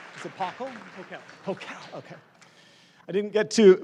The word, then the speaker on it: Pokel: Did I pronounce it right? Is it Pokel? Pokel, okay.